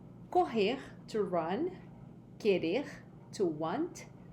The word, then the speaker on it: corre: It's the same pronunciation of the H in English, okay?